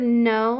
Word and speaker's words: know: no found always remember the word no has a digraph at the beginning K and so that K is silent because a digraph R